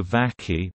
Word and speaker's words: Vacchi: Fabio Varkey pronounced the key born 1949 in Bologna is an